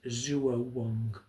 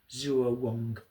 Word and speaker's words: zuowang: the the Darist tradition and it's known as Zuo Wong. Zuo W A N G Zuo Wong as we would um spell it in our in our um in our form of writing.